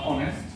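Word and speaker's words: honest: বা অনেস্ট বা অনার বা অনেস্ট, এই শব্দগুলোতে এইচ এর উচ্চারণগুলো হয় না, সাইলেন্ট থাকে।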